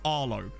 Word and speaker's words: Harlow: makes you feel better i was born in harlow or i should say arlo because the h is silent oh yeah mobile they